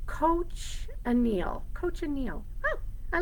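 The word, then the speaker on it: cochineal: a dying event and the beetle die is pronounced coach anneal coach Anil oh I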